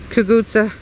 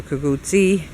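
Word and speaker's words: cucuzza: to you so anyway it's kagutsa it can be pronounced kagutsa a kaguti and it is an italian sicilian squash gourd um and it's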